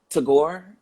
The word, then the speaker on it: Tagore: It was the Indian philosopher Tagore. Is that how you say his name? Yeah, Tagore.